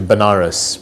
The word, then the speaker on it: Benares: So I ended up going to Benares, which is a place in India, sometimes pronounced as Vanaras, which is a place